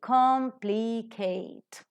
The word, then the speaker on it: complicate: the examples now the very first word c-o-m-p-l-i-c-a-t complicate right complicate polysyllabic word it is three syllables are there tricyllabic word it is more